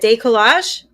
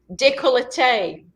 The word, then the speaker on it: décolleté: Décollage? Décolleté.